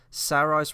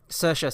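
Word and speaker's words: Saoirse: And I love how first and foremost that um Sarah's Ronin is I think I'm pronouncing it right. I think that's right. Sa um Sersa, sorry. Yeah, Cersa Ronan.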